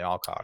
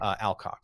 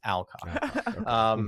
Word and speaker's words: Alcock: Emily Carey and Millie Alcock. Interesting. Alcock, sorry. I keep giving this like British accent to her name. It's Alcock. Sorry, Millie.